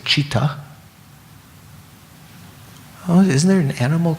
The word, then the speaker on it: citta: This is the Indian word C-I-T-T-A, and you might say that should be kita or something, but that C in Sanskrit is pronounced like cha, right?